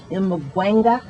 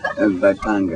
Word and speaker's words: Mbaqanga: So, Lucky, when did you decide to change from Zulu Mbwanga, is that how you pronounce it? Mbaqanga.